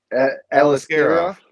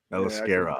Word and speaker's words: Aliskerov: Aliskerov. Aliskerov.